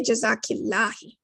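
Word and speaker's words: جزاكِ الله: we all uh but it would be more correct to say jazaki lahi similarly when it's a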